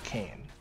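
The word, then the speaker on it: Kayn: cane or not yeah kane i i said kane meaning decaying you know like like nasa's kane and then in my mind i auto-corrected to k-a-y-n even though it's the same like like pronunciation you know i've lost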